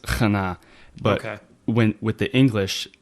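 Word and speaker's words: Chana: it's C H A N A and it's pronounced kana.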